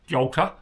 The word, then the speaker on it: Göta: GOTA, pronounced, my understanding is GOTA, not GOTA, GOTA.